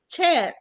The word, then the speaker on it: chair: ما بنقولش شير، بنقول chair. you sit on the chair.